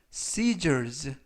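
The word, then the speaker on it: scissors: 표현이 되겠습니다 이번 표현은 cells cells 쓰 els 라고 바람 하시면 되겠고요 이때 s 발음 들은 쓱 아니라 쓰 라고 발음 하시면 되겠습니다 품사는 명사 뜻은 가위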